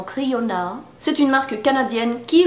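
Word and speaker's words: Clionadh: La marque de ces merveilleux highlighters, c'est Clionade, qui se prononce en anglais apparemment Clionade.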